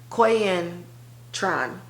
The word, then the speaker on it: Quyen Tran: Quyen Tran.